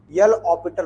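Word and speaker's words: L'Hôpital: बाई LH rule, यल ऑपिटल rule. Spelling वही होती है हॉस्पिटल वाली, लेकिन उसे हम ऑपिटल पढ़ते हैं, है ना।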